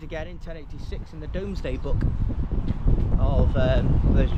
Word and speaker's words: Domesday: And then no, it's pronounced Domesday.